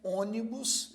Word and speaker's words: ônibus: A palavra ônibus, por sua vez, também tem 3 sílabas. E a primeira sílaba desta palavra é a mais forte. Então, ônibus, veja, tem 3 sílabas